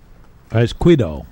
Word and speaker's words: Esquido: Esquido. There's no extra syllable in there.